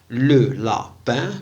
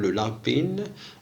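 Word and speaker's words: le lapin: لا ننطقها في الفرنسية إن، إنما تنطق أن أن. لو لابان ما تنقولوش، لا نقول لو لابين، نقول لو لابان، رغم أن إي يعني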